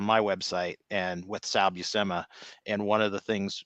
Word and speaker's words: Buscema: board and um he did say it's sal busema um yeah so if you want to hear